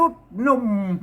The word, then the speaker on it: หนุ่ม: ปุด รุ ปุด รุ หนุ่ม หนุ่ม เห็น ม มี ม เยาะ ครับ อ่าน ว่า หนุ่ม นะ อ่าน ว่า หนุม ก็ ได้ หนุ่ม หนุม ปุ พุด